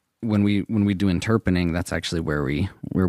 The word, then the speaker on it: interpreting: spell it interpreting so a lot of people sometimes think it's called interpening but it's called interpreting that is a word that